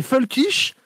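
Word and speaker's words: völkisch: Alors non les les les folkich le parti nazi est un parti folkich. Et folkich c'est volkich en allemand. Ah ouais. Ah parce que les V ça prononce F.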